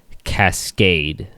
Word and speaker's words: Cascade: But the first album we're going to talk about is 1995's Cascade. Rhymes with facade. I mean, you're right. Yeah. That's not how you pronounce that word.